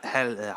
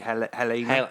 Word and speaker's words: Halyna: Helena, I can't even pronounce it. Halyna, Helena.